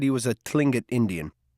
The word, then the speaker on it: Tlingit: said he was a tlingit indian pronouncing clingit proudly with a clicking of his tongue as if saying clink it he was built like